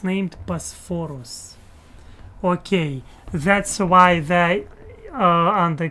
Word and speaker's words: Bosphorus: It's named Bosphorus.